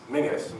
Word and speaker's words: Menzies: And my name is Mingus, Menzies, however you want to pronounce it. Mingus, I think, is the correct Scottish pronunciation.